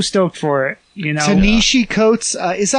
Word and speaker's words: Ta-Nehisi Coates: You know, Tanishi Coates, is that how you say his name? I think. I want to say it is Ta-Nehisi Coates.